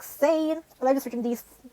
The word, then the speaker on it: zehn: Like this is the pronunciation, but of course you're going to spell it like Z-E-H-N, and you're going to say it like sane.